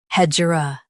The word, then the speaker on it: hegira: Today we will learn how to pronounce the word shown on the screen. Hedgera.